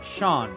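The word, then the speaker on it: Seam: better to do about yourself the name sim pronounced Sean ohh Sean okay Sean and this is my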